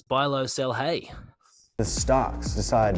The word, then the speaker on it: Bijlow: I watched the game this morning, and the commentator pronounced it BIJLOW. Really? There you go. Yeah. Buy low, sell hay.